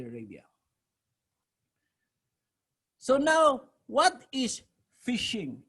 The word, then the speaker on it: phishing: so now what is fishing it's pronounced like fishing fish shaking pronouns like